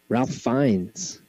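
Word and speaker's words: Ralph Fiennes: murray edward norton um ralph fines thank you for pronouncing that correctly um but that i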